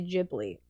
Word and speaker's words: Ghibli: of Gibli movies and they were like in Japanese they say Jibli. So I've heard Ghibli a good few times R1 or Silent Hill one.